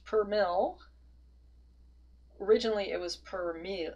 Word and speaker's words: per mil: end we have this little symbol which is pronounced per mil originally it was per me mil so French